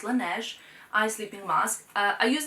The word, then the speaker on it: Laneige: So it's Laneige eye sleeping mask.